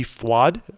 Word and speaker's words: FUAD: It is called LG FWAD. FWAD is spelled FUAD.